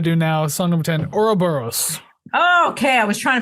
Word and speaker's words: Ouroboros: So, Ouroboros. So yes, I know how to say it. Excellent. It's kind of like the sound that big block in Super Mario makes when it hits the ground.